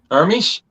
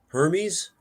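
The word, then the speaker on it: Hermès: it I can't see Hermes Hermes it's her probably yeah long e yeah I know exactly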